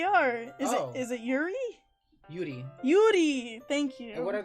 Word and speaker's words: Yuri: There's actually quite a fair amount of names you're pronouncing incorrectly. Oh, well, let me know what they are. Is it Yuri? Yuri. Yuri, thank you.